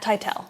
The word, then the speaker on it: Tytel: called vital by matt tytel how do you pronounce his last name tytel it's not tittle matt also created helm